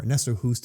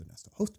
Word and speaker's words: Ernesto Hoost: So Ernesto Hoost, or Ernesto Hoost as most people in English would refer him, his actual pronunciation is Ernesto Hoost.